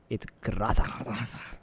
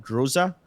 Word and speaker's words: Groza: That's correct pronunciation, by the way. That's how the Russians pronounce it. It's Graza. Graza. Wacky Jackie pronounces it as Graza, and most of the Indians call it Groza.